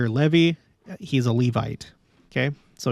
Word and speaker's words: Levy: music up a level Levi or Levy as his name implies they sometimes pronounce it Levy instead of Levi uh I'll go with Levy Levy as his name